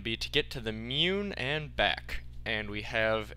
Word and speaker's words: Mun: I was switching between moon and mun. It's actually mune. That is the correct pronunciation, mune.